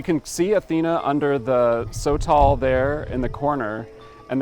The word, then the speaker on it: sotol: It's a sotol, so S-O-T-O-L.